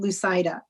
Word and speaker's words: Lucida: so i tell people the best way to remember my name is don't lose sight of me because it rhymes with lucida and you did remind